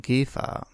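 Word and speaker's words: Käfer: En realidad se pronuncia Volkswagen Kef.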